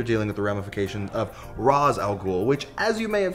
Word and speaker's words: Ra's al Ghul: with the ramifications of Ra's al Ghul, which, as you may have heard, while the DJ was on the phone, he pronounced it Raish al Ghul, which is the proper Arabic pronunciation.